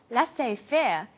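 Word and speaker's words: laissez-faire: He uses the phrase lass fair. Lassay fair is a borrowing from French. It closely reflects the pronunciation of the original language and the original spelling.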